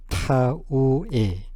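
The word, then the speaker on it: 田植え: 밭전자 하고 심을 식자 이거를 타우라 읽습니다 타우에 타우에 타우에 요게 모네기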